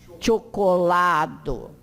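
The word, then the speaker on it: ĉokolado: Pronuncia como TCH, diante de qualquer vogal. Então, chapelo, pode repetir, chapelo, chevalo, tilio, chocolado.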